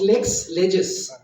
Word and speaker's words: Lexlegis: a is pronounced Lex leges lexicon on legislations lexicon dictionary collection and